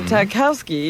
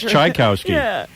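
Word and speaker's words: Tchaikovsky: that why JFK Jr is so sexy and takowsky is hey I've been pronouncing that wrong I thought it was chai Kowski I didn't know that all right I got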